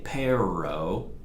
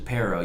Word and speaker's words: pero: here by the way you don't say pair row that's the you know the gringo pronunciation para you might not hear